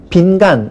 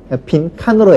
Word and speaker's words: 빈칸: 때 한자 그대로 해서 한 간 두 간 아무도 그렇게 발음을 하지 않죠 빈관 이렇게 합니까 빈칸으로 해요 그러니까 분명히 한자는 한자 여는 분명합니다 사이 간자 온 것은 의심의 여지가 없지만 현실적으로 다 칸으로 발음을 하니까 어 너네들 다 틀렸어 이렇게 하는 것이 아니라 표준어를 바꿔 주는 거죠 그럼 우리 가만히 있어도 다 맞게 쓰는 거예요 그래서 예 칸마귀 빈칸 방한칸 처럼 간이 칸으로 거센 소리 된 것을 표준으로 인정을 하게 됩니다 다만 물론 모든 간을